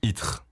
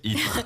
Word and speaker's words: Ittre: It's a really, you're never gonna be able to pronounce it. Itre. I don't know. Was that the name? Yeah, Itre.